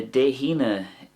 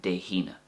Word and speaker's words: Dé hAoine: So the De Hina, it's like a he sound in English, as in he is or he was. And that's obviously because there's a H there before the A in De Hina. So if you're saying it the De Hina way, it's very important you get that he sound.